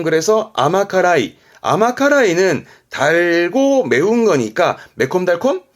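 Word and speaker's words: 甘辛い: 짠 거고요 요거는요 앞에가 달감 자가 들어 있네요 발음은 그래서 아마카라이 아마카라이는 달고 매운 거니까 매콤달콤 그럼 매콤 달콤함을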